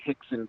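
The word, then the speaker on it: Rickson: up and look up his name is spelled like brixon but it's actually Hicks and Gracie he and all the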